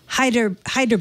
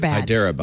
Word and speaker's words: Hyderabad: They didn't give a date on this in how do you pronounce this? Hyderabad. Hyderabad, right?